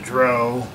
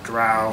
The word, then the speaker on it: drow: They've encountered the dwarves, the drow, or drow, however you want to pronounce it, and now just recently elves.